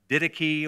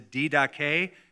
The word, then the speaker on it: Didache: Usually it is mispronounced as the Didache or the Didache, but it's the Didache.